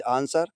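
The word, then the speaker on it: answer: एस के बाद कोई भी मीनिंग हो अगर डब्ल्यू लगा है जैसे आंसर एस के बाद डब्लू है डब्ल्यू का प्रोनाउंस नहीं होगा।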